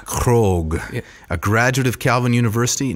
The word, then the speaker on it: Krogh: It's Michael Krogh. Krogh, a graduate of Calvin University, nay, Calvin College in 2006, BA in Latin education.